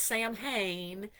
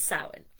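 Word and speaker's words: Samhain: which we would pronounce we would try to say like spell it s o w i n but it's spelled s a m h a i n so not Sam Hayne it's sin.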